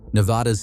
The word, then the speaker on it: Nevada: Say it with a short A. Pronounce Nevada with the vowel in the second syllable like the A in cat. Do not use a broad ah sound. One vowel is all it takes to separate locals from outsiders.